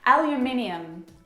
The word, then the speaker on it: aluminium: It's very simply said, aluminum. Aluminium is what we say.